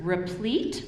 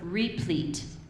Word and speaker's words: replete: is correct our judgment your word has two pronunciations it's either replete or replete can you give me